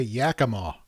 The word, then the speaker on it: Yakima: Okay, Yakima. See, I knew I was pronouncing it wrong.